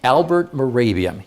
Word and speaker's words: Mehrabian: His name is spelled Mahrabian. You've heard of him. Okay. Say it again. Albert Mehrabian.